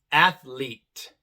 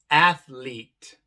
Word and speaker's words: athlete: Entonces esta segunda e la e al final queda muda en palabras como athlete athlete supreme supreme sincere sincere aquí tenemos la e